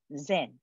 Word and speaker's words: Zen: the uh english term zen right z en and that is the english that is the japanese pronunciation of the chinese character chan okay and probably the